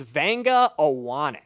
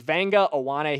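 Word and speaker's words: Vega Ioane: Jackson Durham, give me the pronunciation of this name because I always struggle with it. Okay, so this is Vanga Awan.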